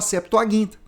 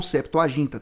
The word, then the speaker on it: septuaginta: septuaginta tá bom gente a pronúncia não importa viu Senão chega alguns protestantes não sabe nem falar O diácono septuaginta eu aprendi isso num debate viu que eu defendia que era septo ginta apenas E aí eu